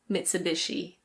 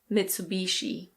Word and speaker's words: Mitsubishi: Another Japanese one - in British English this is Mitsubishi. Mitsubishi. In American English it's usually Mitsubishi.